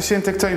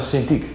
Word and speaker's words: Cintiq: Et je vous ai apporté le Cintiq 22. Ha Michiel, au fait, c'est Cintiq. C'est Cintiq? Oh c'est bien alors, alors je prononce mal toute la vidéo !